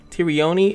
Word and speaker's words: Tyrione: the reason why I say her name is Tyrion is because that is the pronunciation that they gave me uh the way